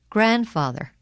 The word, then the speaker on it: grandfather: but it's so dirty the letter D is silent in the following words read them as you repeat them during the pauses Wednesday grandfather grandmother grandchildren hankerchief practice